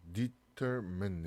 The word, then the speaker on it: determine: 자, determine 해서 여기 mine이 아니라 발음교는 이렇게 man 이렇게 발음이 되어 있어요.